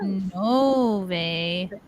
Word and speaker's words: Novi: Paul Freeze, hello from Novi, Michigan, pronounced Nove. Novi.